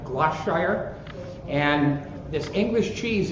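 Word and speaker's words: Gloucestershire: from this little town i'm going to try to pronounce it correctly it's like gloss shire and this english cheese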